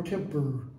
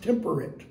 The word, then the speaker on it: temperate: Thou art more lovely and more temper. See, modern English, that's pronounced temperate. Rough winds do shake the darling buds of May, and summer's lease hath all too short a date. Eight and it don't rhyme.